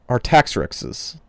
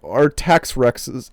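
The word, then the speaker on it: Artaxerxes: How do you say that X after an R? Let me spell it for you. R A R T A X E R X are I'm going to say our tax X's. Our tax rexes.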